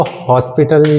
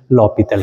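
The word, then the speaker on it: L'Hôpital: कई स्टूडेंट्स इसको हॉस्पिटल या फिर हॉस्पिटल इस तरीके का बोलते हैं। इसका करेक्ट प्रोनाउंसिएशन लॉपीथल है।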